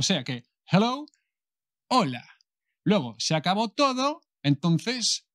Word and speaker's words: hola: word in spanish hello hola se escribe con la h pero la h de hecho en español nunca nunca nunca se pronuncia bares la base española no venga o sea que hello ola luego se acabó todo